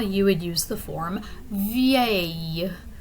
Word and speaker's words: vieille: So if you really drag out that pronunciation and pronounce all those vowels in that word, vieille. Okay, so there's lots of letters there, and basically that's how it sounds once you put them all together.